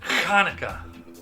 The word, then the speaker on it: Hanukkah: I mispronounced that, by the way. It's Kaneka. You got to get that H in there.